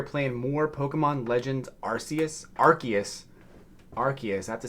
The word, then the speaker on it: Arceus: today we are playing more Pokemon Legends Arceus Arceus Arceus I have to say it right otherwise I'll get um uh flamed by the Pokemon's fans Arceus for the Nintendo switch I am in I